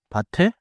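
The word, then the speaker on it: 밭에: A bat te, the t slides forward into eh and stays a t.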